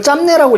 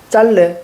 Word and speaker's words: 짧네: 비읍이 탈락해야 돼. 이걸 짬내라고 읽으면 안 되죠. 이거 되게 이상한 거야. 이건 근데 짬내라고 읽는 게 훨씬 더 익숙하지 않아? 제 길이가 참 짤래.